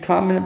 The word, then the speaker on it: Coconino: it's actually pretty easy it's like cocoa and then Nino know it's that simple didn't flagstaff there's you